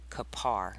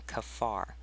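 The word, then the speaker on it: כפר: So in our language, this would be pronounced kapar rather than kafar.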